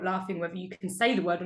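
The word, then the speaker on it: Cairns: i think like cans for example is it's pronounced cans but c-a-i-c-a-i-r-n-s it's like not spelled any way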